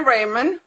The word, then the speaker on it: Rehrmann: well first of all my name is raymond um it is a german last name jay